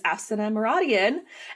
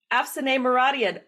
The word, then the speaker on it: Afsaneh Moradian: I took a break over the summer, and my first interview today is Afsaneh Moradian. And I'm so sorry. I got your name wrong. Afsaneh Moradian.